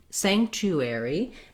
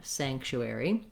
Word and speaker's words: sanctuary: very ignore that okay so sanctuary then we have the letters are saying the air diphthong so thinking about that like the word air and finally our y says an e at the end so different ways to